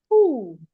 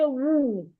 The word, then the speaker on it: who: I hear people say woo. No. It is not woo. Sorry, in the word woo, the H is not silent. It's a W that is silent. Sorry. In who, the H is not silent. It is a W.